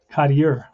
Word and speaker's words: Cottier: Logan, it's Crandall, Logan, Cottier, right? Cottier that's how you pronounce his name.